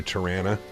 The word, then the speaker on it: Toronto: community and yeah Toronto Tarana people that live in Toronto probably say Tarana it's because that's I